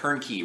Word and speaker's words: Hoernke: As always, I am Hoernke. Rhymes with turnkey.